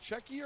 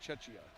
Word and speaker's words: Czechia: Is it Czechia or? Yeah, it is Czechia, not Chechia. Yeah.